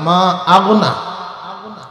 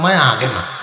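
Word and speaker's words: مَا أَغْنَى: তাব্বাত ইয়াদা আবি লাহাবিন ওয়া তাব্বা মা আগনা। মা আগনাটার কয়তাল কয় মায়া আগে না, মায়া আগে না।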